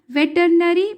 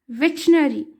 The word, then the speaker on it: veterinary: देखिए यहाँ पर प्रोनाउंसिएशन मैंने वेटनरी पढ़ा है और जो यहाँ पर स्पेलिंग है उसके तरह से बहुत सारे जन ऐसे मिस्टेक करते हैं, इसे वेटरनरी पढ़ते हैं। मैं भी पहले वेटरनरी ही पढ़ती थी, पर इसका सही प्रोनाउंसिएशन है वेटनरी, वेटरनरी।